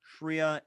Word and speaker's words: shreya: And also there's priya, shreya, and buddhi as well too.